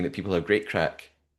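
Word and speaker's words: craic: Yeah, it's I'm pretty sure it's spelled C R A A I C but pronounced crack and like crack cocaine or something else.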